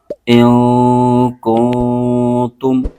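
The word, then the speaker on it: كُنتُم: بھی غنہ کریں گے۔ تا پر پیش ہے اور میم ساکن ہے، اور تا کو میم کے ساتھ ملائیں گے۔ ہجے یوں کریں گے، حمزہ نون زیر ان، کاف نون پیش کن، کن، تا میم پیش تم، کنتم۔ صاد پر کھڑا زبر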